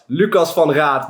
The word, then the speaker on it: Lucas van Raat: Okay, I will pronounce it in Dutch, Lucas van Raat, but it's man.